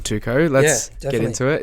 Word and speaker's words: T2KO: I guess in honor of Zane, you've started this amazing non-for-profit called Tuco. Let's get into it. It's spelled T2KO.